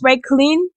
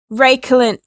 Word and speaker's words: Reuchlin: So you've got KH, Reuchlin, or I guess you could pronounce the CH as a K or as a ch, Reuchlin.